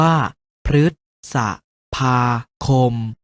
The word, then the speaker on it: พฤษภาคม: พาน เช่น พฤษภาคม ออก เสียง ว่า พฤษภาคม รึ ตาม หลัง มอ ม้า เช่น มฤตยู ออก